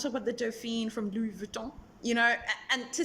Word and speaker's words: Louis Vuitton: know i feel like it's just a pronunciation of the vuton at the end and and most people in english say louis vuitton and i understand why they pronounce the n because we're english speakers